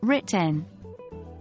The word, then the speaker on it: written: write written written is pronounced like written again the E is silent four choose chose chose